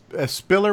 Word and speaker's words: Spiller: Spiller with a P, like spilled milk.